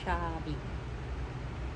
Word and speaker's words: Chablis: You say Chardonnay and Chablis. CH is SH most of the time.